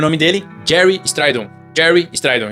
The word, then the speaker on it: Gary Strydom: Jerry Stridon. Jerry Stridon. Escreve Gary Stridon, mas a gente pronuncia Jerry Stridon.